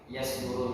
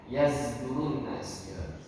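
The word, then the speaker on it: يصدرون: Yang ada perbedaan di sini Pak, yasdurun ini. Kalau seandainya huruf shad ini dia bisa berubah ke zai, ya zai itu dalam qiraah Imam Hamzah, ya yazdurun nas, yazdurun nas bacanya.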